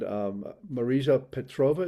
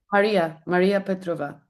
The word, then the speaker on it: Maria Petrova: course, the inevitable question is where you found Marisa Petrova, is that her name? The little Maria, girl who yes, was Maria. extraordinary. You Yeah. pronounce the name for me? Maria Petrova.